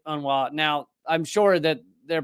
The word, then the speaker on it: UNRWA: beginning of this and I was pronouncing it unrwa apparently uh those in the know the the cool kids who spend a lot of time around un uh pronounce it unwa now I'm sure that